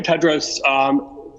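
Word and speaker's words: Tedros: for the question and the correct pronunciation of my name is dr. Ted Rose greetings to you again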